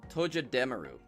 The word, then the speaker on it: Togedemaru: It's Togedemaru.